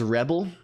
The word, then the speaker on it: Rebble: no it's it's not it's pronounced Rebel um it's not it's